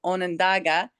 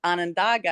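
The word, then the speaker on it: Onondaga: the correct pronunciation of you were saying Onandaga, and everybody that lives there says Anandaga.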